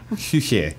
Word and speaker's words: Küche: Küche. Küche is the German word. It's kitchen. Okay. Just don't. Don't do it phonetically.